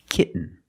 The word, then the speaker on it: kitten: When you have T-E-N, T-O-N, or T-A-I-N at the end of the word, and the syllable is not stressed, The T makes a different sound. We have to make a stop T and link it to the N.